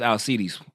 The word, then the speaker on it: Alcides: But I'm pretty sure it's Alcides. I'm 99% sure it's Alcides. The C's in Greek and Latin are pronounced with a K.